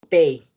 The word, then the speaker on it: pays: Como en el caso de vin de Pays. La S no se pronuncia.